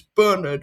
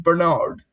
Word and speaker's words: Bernard: Um and Chris point Chris points out that if we're doing English pronunciations it's Bernard rather than Bernard but he's not English. So P but he's not English. So it is in fact Bernard.